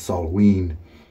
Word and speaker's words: Samhain: it smelled Samhain is spelled Samhain but it's pronounced salt ween or something very close to that you can